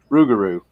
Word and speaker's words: rougarou: was all legends of the rougarou which is pronounced ruguru cages no disrespect to